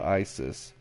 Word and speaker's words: Icesus: If you are a mudder, you should definitely check out ISIS. Not like the terrorist organization or whatever. It's spelled ICESUS, and it's a mud.